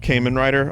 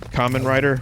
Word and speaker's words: Kamen Rider: I wanted to like it's not Kaman Ryder I just pronounced it wrong I've only ever read it I don't know Kamen Rider whatever but I had no